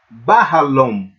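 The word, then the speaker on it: בחלום: Melhor dizendo, né, a gente pode botar essa sílaba mais tônica, né? Porque o patá tem sempre som de A, como na palavra pá. Então, Bahalom, que seria em sonho,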